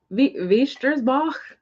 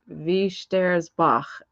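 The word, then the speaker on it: Wächtersbach: So W is pronounced like a V. The second vowel is pronounced, so it's Wiestersbach, I think.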